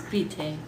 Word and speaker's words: bite: It's just spelled like bite in English, but it's vite.